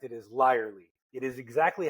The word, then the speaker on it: Lierly: yourself so start with thank you for pronouncing it learly apparently that's the correct German pronunciation but my grandma would not let me live if I did not correct it as larly it is exactly how no one wants to